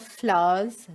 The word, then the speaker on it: flours: the different types of flours that are used in our kitchen. Flours spelled Flour, pronounced like fool फ्लावर, बट ये फ्लावर FLOUR जो है, ये फ्लावर का मतलब है आटा.